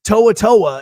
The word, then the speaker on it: To'o To'o: So To'oTo'o is how you say it. And it's very different than Tomatoa, which is a crab inside of Maui, inside of Moana.